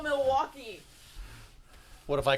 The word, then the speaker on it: Milwaukee: your actions don't call Milwaukee what if I call Milwaukee actions would be speaking from itself actually it's pronounced miliwaki which is Algonquin for the good land that's right it's fair